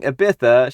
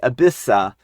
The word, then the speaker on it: Ibiza: For example, instead of saying Ibiza, she would say Abissa.